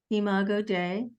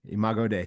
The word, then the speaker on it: Imago Dei: And I think that, and I don't know if I'm pronouncing this correctly, I should know this, but it's the Imago Dei. Imago Dei. Imago Dei, thank you.